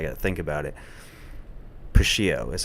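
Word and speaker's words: Puschieau: Pio is how you say it. Pio Productions.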